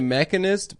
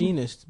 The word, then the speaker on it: The Machinist: Is that how you Begins. pronounce it? Machinist, bitch. The Machinist. The Machinist. The Mechanist. What are you? I said it right, dude. I just said it English.